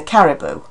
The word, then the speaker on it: caribou: second syllable there, whereas the animal is a caribou. It's the stress is on the first syllable, and the final oo has a different quality.